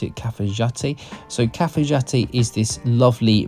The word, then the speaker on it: Cafayate: to cfat so it's spelled cafayate but they pronounce it cfat so cfti is this lovely mountain town in